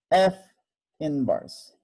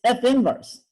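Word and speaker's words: f⁻¹: just the notation and how do you pronounce this F inverse okay it's not F to the power negative one or at minus one okay it's F inverse and please don't ask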